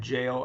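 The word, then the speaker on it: gaol: the original term of jail as we know it is jail coming from England g a o l pronounced the same and jail can be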